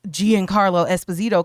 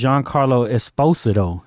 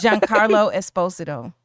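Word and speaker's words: Giancarlo Esposito: then the next actor who we know as Gian Carlo Esposito because that's what we've been saying the whole time. But yeah, his name is Jean Carlo Esposido. Espostoido. Yes. And Esposito. Jean Carlo Esposido.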